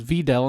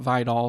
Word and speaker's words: Vidal: to point out one I was pronouncing kamani Videl wrong uh on previous episodes I looked it up it is videll not vidall so um apologies there